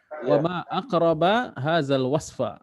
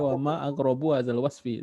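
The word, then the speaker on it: وما أقرب هذا الوصف: Wa ma aqraba hadzal wasfa. Nah, jadi bacanya udah benar ya. Jangan baca wa ma aqrabu hadzal wasfi.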